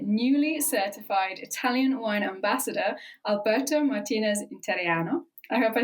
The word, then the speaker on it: Alberto Martinez Interiano: I'm joined by newly certified Italian wine Ambassador Alberto Martinez interiano I hope I said that correctly welcome to